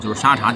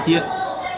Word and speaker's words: 沙茶: That's interesting Look In Southeast Asia, it's called satay sauce Satay But this cute The pronunciation in Minnan dialect actually corresponds to the word "tea" Tea is called "tay" There are two names